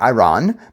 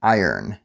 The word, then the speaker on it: iron: difficult word to pronounce it looks like Iran but we actually say more like iron at least in America so if you have